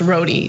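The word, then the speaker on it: Rode: keep in mind that the shop owner's last name is pronounced roie that's relevant because Donald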